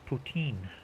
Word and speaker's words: poutine: Uh, the actual pronunciation should be uh poutin. Putin anglicized to put poutine.